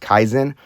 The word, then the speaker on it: Kaizen: So there's a Japanese philosophy called, I believe it's pronounced Kaizen.